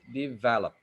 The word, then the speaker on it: develop: you will notice that your students probably pronounce it as develop develop yeah the correct pronunciation is develop now how do you